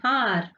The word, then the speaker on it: hour: See here, Meha will reach the venue in an hour. Here, what letter is this? It is a consonant letter, but it sounds like a vowel.